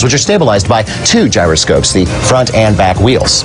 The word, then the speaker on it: gyroscope: since it's been anglicized a gyroscope is pronounced with a J even though the root word gyros is pronounced with a Y sound and that explains why